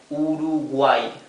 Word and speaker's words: Uruguay: Okay, so this is pronounced simply I, like the I latina. Okay, so this is read Uruguay, right?